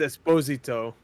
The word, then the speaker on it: Esposito: it's pronounced Esposito, but I'm gonna say Esposito because I'm white.